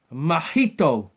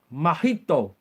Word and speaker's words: Mojito: Johnny, the letter J is pronounced as a H in Spain. Mojito. Mojito.